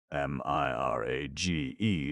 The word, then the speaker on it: mirage: M I R A G E is pronounced mirage, said Valansi shortly, picking up her tea and her beans.